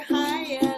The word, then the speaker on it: Haya: And Teacher Haya, that rhymes with papaya, and a show for you today.